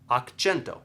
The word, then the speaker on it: akĉento: None of the words we were saying earlier with akcento had a ch sound in it. Silabo, vorto, tono, none of those have ch. So Ĉina akcento, Chinese accent, all right?